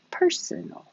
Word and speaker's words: personal: This one is the adjective, could be possessive like personal belongings, or that's private, personal, personal. 1, 2, 3, personal.